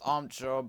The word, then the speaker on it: Omcho: It's pronounced Omcho, but it's spelled like O-M-C-H-O. Just pronounce Omcho.